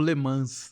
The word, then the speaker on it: Le Mans: eu já escutei como Le Mans. É isso. É porque o S no francês você não se pronuncia.